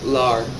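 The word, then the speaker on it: لا: And then no, you pronounce that by saying lar.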